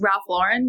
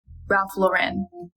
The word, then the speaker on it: Ralph Lauren: Oh, and it's Ralph Lauren, not Ralph Lauren. He's American.